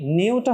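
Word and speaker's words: ν: নিউটা কি? নিউটা হচ্ছে কম্পাঙ্ক। নিউ, তুমি উচ্চারণটা একটু দেখো, এটাকে নিউ বলা হয়।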